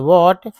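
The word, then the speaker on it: what: situation situation N च व्हाट इसमें एच जो है साइलेंट होता है व्हाट happened व्हाट happened was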